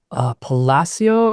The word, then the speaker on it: Palacio: industry, his name is Alan Palacio, I think is how you say it Hmm. properly in Spanish.